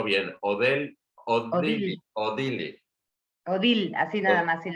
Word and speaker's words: Odile: contar de esa pequeña, a ver si lo pronuncio bien, Odil, Odili, Odil, así nada más, sin la Odil, E, Odil.